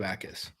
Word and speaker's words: Ikard: Young, and then Gabe Ikard. Which is spelled like it almost looks like jackass. It's not Yes, it is. It's Ikard, which is a weird weird way to pronounce it.